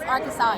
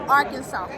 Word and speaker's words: Arkansas: if you guys know that stage it is arkansas everybody it's just pronounced arkansas oh my arkansas all my arkansas our kansas